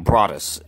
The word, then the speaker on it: Broadus: channel is broadest YouTube and my name is spelled eat my first name er I see last name Broadus be ro ad us and it's YouTube so